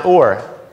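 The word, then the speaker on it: אור: or or yes or all right so so pronounce or so it's pretty pretty easy to remember now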